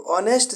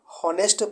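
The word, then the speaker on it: honest: एच यहाँ पे silent हो जाता है। इसको पढ़ने के लिए हॉनेस्ट मतलब पढ़ने के लिए इसको ऑनेस्ट पढ़ते हैं, और लिखने में हम इसको एच से इसको शुरू करते हैं।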